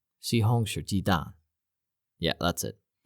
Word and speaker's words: 西红柿鸡蛋: 西红柿鸡蛋. Yeah, that's it. 西红柿鸡蛋, which means tomato egg.